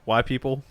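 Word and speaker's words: wypipo: so angry about that it's white people but it's like said quickly why people they're putting online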